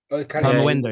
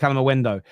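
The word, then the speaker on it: Kalimuendo: Calendo is pronounced Calamendo last year.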